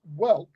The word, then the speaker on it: Welk: And now there is Lawrence Welk, but it's not spelled like walk.